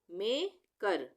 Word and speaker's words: maker: अब है किसी भी शब्द में जब ई आर एक साथ हो तब उसका उच्चारण अर होता है, और र एक साथ होगा।